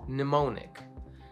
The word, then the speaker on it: mnemonic: Silent M. How about this one? Mnemonic.